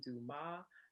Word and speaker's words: Dumas: and twitter at dumas that's w-u-h-r-y-n-w-m-a-s the s is silent thank you and um